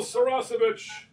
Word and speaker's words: Saracevic: I keep calling you Saracevic, but it's Saracevic. That's right. Well, there's no H on this one, so Saracevic. Right. Yeah. So it's spelled. It sounds like it's spelled. Yeah.